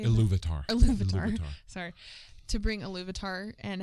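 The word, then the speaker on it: Ilúvatar: Iluvatar.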